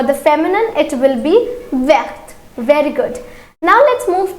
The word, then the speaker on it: vert: So here the pronunciation will change. For the masculine it is vert.